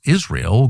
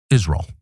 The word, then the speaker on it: Israel: Israel. This is the Mike Huckabe pronunciation, Israel.